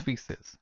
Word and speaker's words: feces: And these are pronounced as feces.